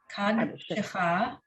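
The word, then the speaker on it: קדשך: The first shva is going to be silent. The second shva has a little sound.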